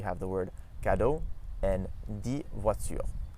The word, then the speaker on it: dix: So for instance, we have the word cadeau and dix voitures. Dix voitures. So we don't actually pronounce the X there.